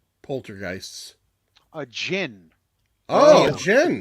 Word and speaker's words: djinn: Jen. D is silent.